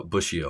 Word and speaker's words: Bussio: just it always slips my mind so uh busio okay I I'll I'll correct my uh head pronunciation for that so glad to have you